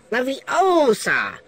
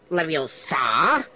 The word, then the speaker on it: Leviosa: you lose some witch it's pronounced leviosa not leviosa come here you mutated